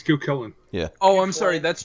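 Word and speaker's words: Cú Chulainn: Yeah, it's Cucullin. Yeah. Oh, I'm sorry. That's Geronimo. That's Geronimo. Okay. Yeah, that's Geronimo. All right. He is a okay. caster. This is American cool. Cucullin.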